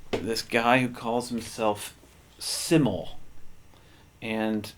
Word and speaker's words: SYML: guy who calls himself siml and siml is spelled s yml all in caps and from what whatever research I've done um it's actually not an acronym it's pronounced siml and apparently it comes